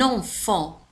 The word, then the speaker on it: enfant: le bébé l'enfant un enfant الطفل أو الطفلة l'enfant رأيتم على أن كلمة enfant تنتهي بالت ولكن لا تنطق l'enfant un enfant enfant